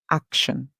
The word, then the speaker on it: action: A and C together, ak, and then we hear TI makes the song sh, and then ON says on. We put it together, we have ak, sh, on, action. Or we can say TION says shon. So we can say action, then we add the S sound, we have actions. Always remember when you're spelling the word action that it is TI making the sh sound and not SH.